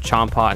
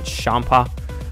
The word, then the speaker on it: Champa: c h n PA but it's spelled like or it's said like with an sh like instead of Champa shampa um he essentially looks